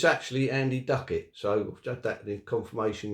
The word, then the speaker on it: Ducat: well it's actually Andy Ducket so had that in confirmation yesterday um that he actually used to call himself Ducket so um that's pretty